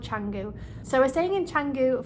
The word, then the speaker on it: Canggu: We're staying in, I think it's called Canggu. I think you spell it Kangoo, but I think it's called Canggu.